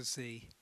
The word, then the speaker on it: Sze: And then it's well, nobody uses the Shanghai pronunciation. So it's become Americanized to Z.